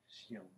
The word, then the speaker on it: chien: Chien.